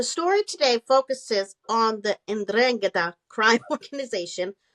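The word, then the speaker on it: 'Ndrangheta: Ndrangheta. The third group is the Ndrangheta.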